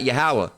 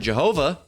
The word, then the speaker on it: Yahweh: spelling is wrong, and that instead of ho, that should be ha, and then instead of va, that should be wa. All right, instead of yeah, that should be yah, Yahweh.